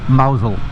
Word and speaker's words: Mousehole: But it's pronounced Mousehole.